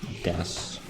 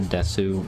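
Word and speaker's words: です: Most people pronounce it Ow. Des. If you pronounce it Desu, you're like going way too hard on trying to be polite. They have used in that language. No, it's just it is like spelt Desu. Yeah. It's just that most of the time when U's are like barely pronounced, so it would just be Des.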